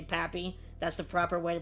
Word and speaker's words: Papi: love you guys love the way i say papi that's the proper way to pronounce it uh number five we got mookie